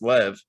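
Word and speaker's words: Loew: of course rabbi loves spelled l-o-e-w but pronounced lev and there were so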